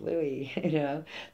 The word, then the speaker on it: San Luis: I'm like, no, it's Louis, They don't pronounce the S, kind of like Illinois, not Illinois, but that's probably because I live in Missouri.